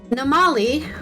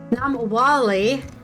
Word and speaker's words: Namwali: Namali, wait, what did I say her name wrong again? Namwali has a Zambian mother